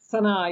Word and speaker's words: Sana'a: Sana'a, yes.